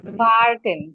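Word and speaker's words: warten: ভার্টেন, ভার্টেন।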